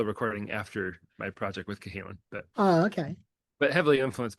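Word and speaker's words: Cahalen: in your album with, how do you say, Callahan? Is it Cahalan. Cahalan? Cahalan, yeah. Cahalan, okay.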